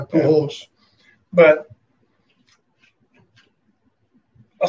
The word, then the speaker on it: Pujols: It's Spanish. You have to say it right, Pujols.